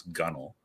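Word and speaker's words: gunwale: reader to know how to pronounce how to pronounce gunnel uh well you know I as a as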